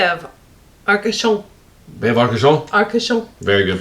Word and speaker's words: Arcachon: Arcachon. Very good pronunciation.